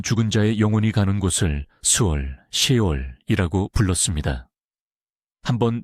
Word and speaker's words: 스올: 구약 성경에서는 모든 죽은 자의 영혼이 가는 곳을 수올, 시올이라고 불렀습니다. 한번 발음해보세요.